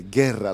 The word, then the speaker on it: Guerra: everyone else does okay guerra like war exactly like war i'm glad you came you were part of toyota fights number 10.